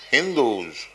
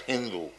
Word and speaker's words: Hindu: So people beyond the Indus river, the Mohammedans in Arabia and other countries, they pronounce H as S as H. Instead of Sindhu, they used to pronounce it as Hindu.